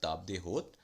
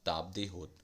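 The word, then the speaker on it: table d'hôte: So first we have table de hôte. Its pronunciation is in French, table de hôte, or table of the host.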